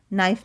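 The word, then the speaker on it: knife: L right में डब्लू नाइफ में के हाई में जी एच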